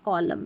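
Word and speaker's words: column: जैसे यहाँ लिखा गया है, कुछ शब्दों के अंत में एम एन रहता है ना, जैसे एम एन है, यहाँ पर एन साइलेंट है, एन को हम नहीं पढ़ रहे हैं। जैसे ऑटम और कॉलम में यहाँ पर एन जो आखिर में, इसका उच्चारण नहीं हो रहा।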